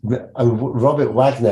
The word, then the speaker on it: Robert Waggoner: we have Robert Wagner is how am I pronouncing that right Robert Wagner yes Robert Wagner I mean when I think I'm straight away